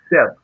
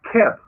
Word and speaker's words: Geb: They call him Keb. In Primordial Medunetta, in your sacred Sanskrit, it says Seb. And we know that Seb is the proper pronunciation because we spell it